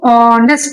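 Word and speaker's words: honest: इसको ऑनेस्ट pronounce करते हैं। ऑनेस्ट। लेट्स यहां पे साइलेंट है।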